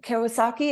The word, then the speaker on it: Kiyosaki: you're frustrated, and then the right person, the right idea, the right Well, like you with Robert Kiyosaki, is that how you pronounce his last Kiyosaki.